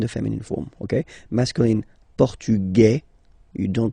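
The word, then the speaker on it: portugais: masculine form and The Feminine form okay masculine portug you don't pronounce the S feminine form portuges you pronounce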